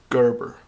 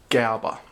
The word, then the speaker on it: Gerber: It's a Gerber or Gerber. That's a German pronunciation, actually.